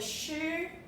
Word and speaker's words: 师: character is called a shoe okay and it's a first tone okay first tone again one two three